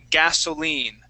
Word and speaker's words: gasoline: The accent is going to go at the very end. Gasoline. Okay. Gasoline. Gasoline. Okay. Gasoline. Yeah. So that I here is going to take the form of a long E sound. So that long E sound is that E, or even that Spanish I.